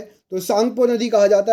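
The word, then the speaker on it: Tsangpo: अगला क्वेश्चन देखिए, तिब्बत में किसका दूसरा नाम सांगपो या तसांगपो है? देखिए सांगपो, तसांगपो, ये ता जो है साइलेंट होता है, तो यहाँ पर सही आंसर क्या हो जाएगा?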